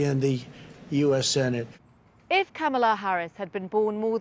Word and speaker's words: Kamala: politician of substance pamela it's not kamala it's not camella but she still had